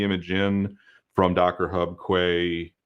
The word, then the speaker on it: Quay: in from Docker Hub Quay or key depending on how you want to pronounce that um Amazon Microsoft wherever